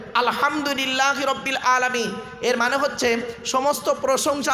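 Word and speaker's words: الحمد لله رب العالمين: ওটা কি আছে ওখানে আলহামদুলিল্লাহি রাব্বিল আলামিন আলহামদু আলহামদু হে গলার ভেতর থেকে হে এটা উচ্চারণ করবেন আলহামদুলিল্লাহি রাব্বিল আলামিন এর মানে হচ্ছে সমস্ত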